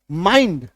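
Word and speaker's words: mind: बी आई एन डी बाइंड, सी एच आई एल D child, आकार की मात्रा ई, wild आकार की मात्रा ई, काइंड आकार की मात्रा ई।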